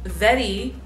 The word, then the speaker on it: Wedi: as hell I started with a piece of Vettii board it's spelled wedi but it's pronounced effete II it's